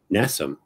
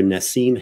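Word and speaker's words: Nassim Haramein: least 20 years and he kept calling him n nassam nassam nassam and he was like acting like that was his name and I'm like nassam Harry mean I I always remember Nasim Harryman so now it's nassam harryan so for me that's totally different I don't remember I remember the the Nasim part and the Harryman part so now it's almost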